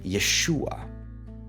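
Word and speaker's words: יֵשׁוּעַ: And another rule, the accent always falls on the preceding syllable. So you would have YESHU'A, RU'ACH, NU'ACH, ha-ma-SHI-ach.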